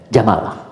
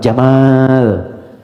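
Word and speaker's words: جمل: Saya notis ya pendek bacanya. Jamal bukan Jamal.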